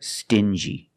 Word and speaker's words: stingy: differently example dingi and stingy these two words have the regular n Sound n plus the J like juice together stin G together stingy or d g together dingy this wall is very